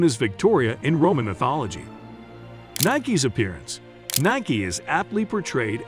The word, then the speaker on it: Nike: Before we move on to our next topic, did you know the correct pronunciation of her name is Nike and not Nike?